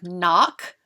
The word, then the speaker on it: knock: So for example, in the word knock, we have KN representing the sound N, and the K is silent.